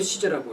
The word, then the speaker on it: Caesar: 카이사르. 영어로 시저라고 읽어.